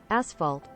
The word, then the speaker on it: asphalt: enough girls to S this cost am I mispronouncing ashalt I thought it's ashalt how do you say it ashalt isn't it ashalt asphalt asphalt asphalt asphalt asphalt that was ashphalt asphalt